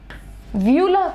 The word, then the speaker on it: uvula: इसको कहते हैं UVULA, व्यूला प्रोनाउंस करते हैं, यू साइलेंट होता है।